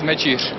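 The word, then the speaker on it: Mečíř: Thank you for the congratulations, and pronunciation is Mecic.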